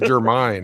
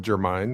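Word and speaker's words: Jermyn: He pronounced it Germanine. It's J E R M Y N. Okay, I'll go with Germine. That sounds good. That sounds better than what I was doing, which was German.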